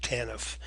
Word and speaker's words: TANF: Families, or TANF is how the TANF is pronounced, TANF. And in Alaska, our TANF program is known as the Alaska Temporary Assistance Program, or ATAP, and you may have heard of that program.